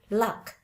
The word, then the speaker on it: luck: Boleh dilihat di situ dari tulisan luck. Oke, LUCK. U-nya bukan dibaca look, tapi dibacanya seperti huruf A.